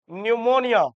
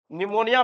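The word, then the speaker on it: pneumonia: PPLO PPLO का मतलब होता है इसका पूरा नाम प्ल्यूरो निमोनिया निमोनिया पी से शुरू होता है। पी साइलेंट रहता है।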